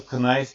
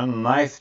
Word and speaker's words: knife: Bu arada öndeki K harfi okunmuyor. Knife diye okunmuyor. Knife diye okunuyor. Sessiz K.